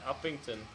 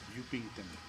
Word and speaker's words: Upington: Uppington. That's not how you say that town's name. No, Fierkies in Uppington. We could stop in Uppington. Not Downington. Or Sidington. It's pronounced Upington.